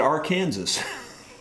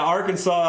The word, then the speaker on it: Arkansas: find another question here why is it pronounced arkansas with an s on the end well some people in missouri pronounce it our kansas uh because it's basically spelled like our kansas but uh yeah arkansas i don't know why you know we could